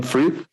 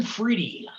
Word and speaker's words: Friede: good days so fried am i right like your your last name is fried right am i saying it right or no uh fridy oh freely free yeah great well freddie